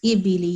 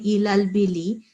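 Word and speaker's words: الإبل: But here, I think you missed ibili. You were saying ilal bili, and this is alif here with kasra underneath. So we have to say ibili.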